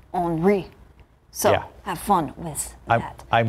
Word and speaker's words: Henri: It looks like Henry, but the pronunciation guide from the Hurricane Center, it's Henri.